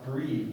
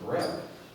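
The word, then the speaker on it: breve: called it's it's spelled it looks like it's pronounced breed but it's actually pronounced a breath so the breath is twice as long as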